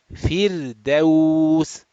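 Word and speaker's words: فردوس: Okay, again, the simple one, that letter ra is sakin, previous letter is has a kasra, so the ra sakin will be pronounced flat. Fir, ra, fir, firdaus, firdaus.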